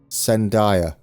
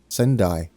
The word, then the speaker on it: Sendai: farm hours nissan i nearly said sempi senpai sendaya sendaya sendaya sendai oh dear oh i get worse and worse at these pronunciations right that's good where do we want